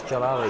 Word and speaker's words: Jalali: Oh, her name is spelled wrong. I just noticed. It's Jajali. Jalali, no, it's Jalali. Oh, it's Jalali. So I was wrong.